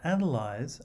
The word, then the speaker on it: analyze: with a voice test but analyze and analyst are stressed on the first syllable without wishing to exaggerate